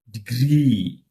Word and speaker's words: degree: Degree. Degree. Degree. That is this. Okay. So, for disyllabic means two syllables.